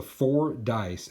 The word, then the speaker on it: Fordyce: It's actually called the Four Dice, and that's spelled Fordyce.